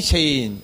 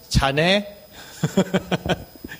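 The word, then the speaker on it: Shane: 자, 요거 뭐라고 읽습니까? 하이 셰인. 근데 요거 잘못 읽으면 어떻게 되냐? 하이 자네.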